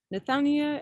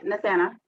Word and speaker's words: Nathania: Nathania, am I saying that correctly? Yes? Yeah, Nathana. Nathana. Just Nathana. The I is silent.